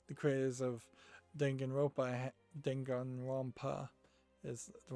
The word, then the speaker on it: Danganronpa: kind of feel like The Craze of Danganronpa dengan Wampa is the right way to pronounce that I um they seem to be